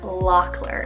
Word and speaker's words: Lockler: spell l o c k l e r Locker if you want that nickname of lock this